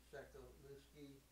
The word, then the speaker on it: Sewkewleski: It's Justin Sewkewleski on the bass. Did I pronounce it right?